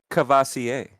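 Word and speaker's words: Courvoisier: It's pronounced Cavassier. Cavassier.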